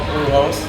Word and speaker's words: Brujos: you know he's got a side project called bluehost am i saying it right yeah who else